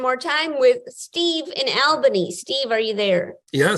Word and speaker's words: Albany: need to be pedantic it's pronounced uh uh Albany and I only know this because there was a huge uh campaign by the the tourist industry uh there was a slogan that said we got it all in Albany just to make people